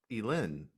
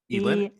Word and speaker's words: Elin: So Elin. Mm-hmm. Elin? Elin. Elin. You said it right the first time.